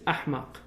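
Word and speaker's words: أحمق: voices of stupidity out the malays can't pronounce the h in arabic so they say for the stupid in malay is in arabic it's ahmak the malay said amak so running amok is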